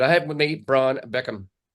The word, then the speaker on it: Beckcom: Today I have with me Brian Beckcom. It's not the Brian Beckham or the Beckham of football fame, but he's because it's spelled a little bit differently.